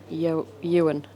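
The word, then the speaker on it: Eoghan: it's an irish sounding i think it's yo ewan but it's e-o-g-h-a-m bridge and making little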